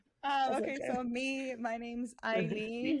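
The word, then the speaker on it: Aylin: ask you yeah okay so me my name's Eileen it's spelled a-y-l-i-n so you different spelling um I am 25.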